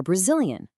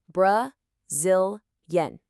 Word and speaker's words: Brazilian: Well, at a normal speed, it sounds like this. Brazilian, Brazilian. Now, to make it even easier, let's break it down into its parts. Bra-zil-yen.